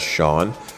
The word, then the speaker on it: Shoun: For consistency, I will pronounce the name of the ship as Shaun. It was pronounced Shaun, Shaun, and Sha uh on the various discussions I had with different people.